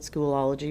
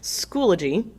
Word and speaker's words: Schoology: I thought it said Schoolology whenever I first started, but they schooled me on how to say it. Schoology.